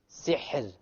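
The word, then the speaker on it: سحر: So, sihr. Sihr. Okay, so the ra is silent. Before it is silent, before it is a kasra, therefore the ra will be light.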